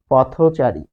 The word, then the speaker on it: পথচারী: যে আপনি তখন আর এক সিলেবলের মধ্যে বা এক অক্ষরে নাই, এখন আপনি এটাকে উচ্চারণ করেন পথচারী।